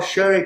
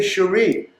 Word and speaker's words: Sheree: wife Sherry the same way I call Sherry. I don't say Cherie. Cherie came after, and she agreed to it, so that's her business. When I started teaching, people would see my name spelled like that, and they would just call me Cherie. So that's how I became known as Cherie with my professional. But my family called me Sherry.